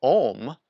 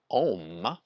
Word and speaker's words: Om: So Om is not pronounced as in English, Om. It is pronounced Om.